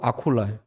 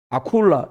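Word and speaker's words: Aquila: 딱 들어보니까 영어로 발음하니까 그러니까 부르시길라고 아콜라예요. 아콜라 이렇게 부르더라고.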